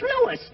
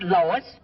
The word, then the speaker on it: Louis: the plant lois lois my name is louis not lois j quiz everybody in